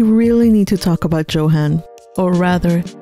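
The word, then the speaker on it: Johann: And speaking of talented individuals, we really need to talk about Johan. Or rather, Johan, as is pronounced in German.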